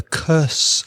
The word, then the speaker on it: curse: The curse of the mummy's tomb. Oh, that's a classic in horror films, isn't it? The pronunciation of curse, the same vowel sound as nurse, enfermera. So nurse and curse.